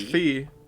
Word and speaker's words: phi: chron the correct greek pronunciation b is actually pronounced fee okay all right the anglicized version is phi though so you're pronouncing it like i'm an